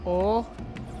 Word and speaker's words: og: Oh, Oh, yeah, but it's like OG. but it's pronounced oh. It's like oh. G is kind of like a little bit of an H.